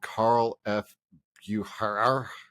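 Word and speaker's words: Carl F. Bucherer: I was using Google to find it, and I guess they're called Carl F. Bucher.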